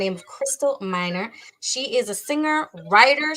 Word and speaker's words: Miner: Crystal Minor.